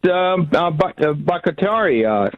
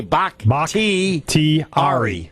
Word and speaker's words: Bakhtiari: The Packers are going to be strong even throughout the first 6 games without Bakhtiari.